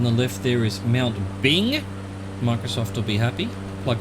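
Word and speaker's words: Byng: Over on the left there is Mount Bing. Microsoft will be happy. Plug for Bing, even though it's spelled B-Y-N-G.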